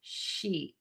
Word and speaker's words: sheet: your mouth will be nice and tense. The tip of your tongue will be really high and flat in the mouth. And then make that vowel really long. Sheet.